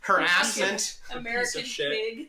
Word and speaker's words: harassment: how easy sexual harassment harassment that's how it's that's the correct pronunciation harassment yeah goddamn why me